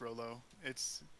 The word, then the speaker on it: Raoul: It's Raoul. Well, it's pronounced Rollo.